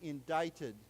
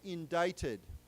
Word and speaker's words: indicted: Remember, this word, we do not pronounce the C. We say indicted. So it's like, let's say it together, indicted.